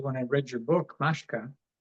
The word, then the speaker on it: Mashka: And am I pronouncing Mashka right? Mashka.